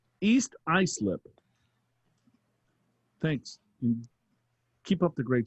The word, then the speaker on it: East Islip: of the ymyw podcast your host botched the pronunciation of eastlip wait a minute only one host watched it no i didn't say it please tell joe in big al big all that it's pronounced east islip thanks keep up the great show so is